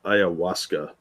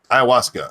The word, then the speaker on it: ayahuasca: not surprising no diesel Dave says pronounced ayahuasca ayahuasca oh thank you so